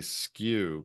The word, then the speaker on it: SKU: scanning at the register that's referred to as a skew conventionally SKU it's an acronym for